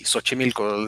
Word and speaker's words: Xochimilco: yeah okay that that's kind of hard to pronounce oh that's well that's that's easy Xochimilco they think is a DX at the start